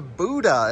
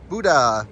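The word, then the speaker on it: Bodø: before we get to Buda, is how they say it, I think. Buda, but it's spelled Bodo.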